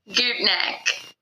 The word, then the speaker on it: Gutknecht: Gutknecht. Gutknecht Construction, Yeah. sorry. My No, apologies. you're fine. It gets Out of butchered all Columbus.